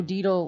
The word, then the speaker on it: Dietel: Dietel like beetle. Yeah, Dietel is my last name. So Dietel like beetle, but not at all spelled like beetle.